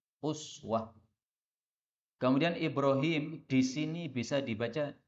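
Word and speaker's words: أسوة: Uswatun Hasanah iswatun Hasanah rata-rata ulama qiroat membaca iswah tetapi kita biar Aa Imam Hasyim di Indonesia ini membacanya Uswah kemudian Ibrohim disini bisa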